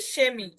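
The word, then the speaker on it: Chemie: এবং সেহা যদি কোনো শব্দের শুরুতে থাকে, তাহলেও কিন্তু তার উচ্চারণটা তালবীয় স এর মতো হয়। যেমন এই যে সেমি, সেমি মানে হচ্ছে কেমিস্ট্রি।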